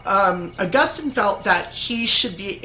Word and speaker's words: Augustine: to come from um Augustine and yes that is St August depending on whichever way you call him I don't really care or Austine that's another way to pronounce it okay so he obviously